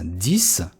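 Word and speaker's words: dix: Здесь X звучит как S. 10.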